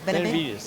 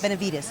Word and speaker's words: Benevides: Benevides. Benevides.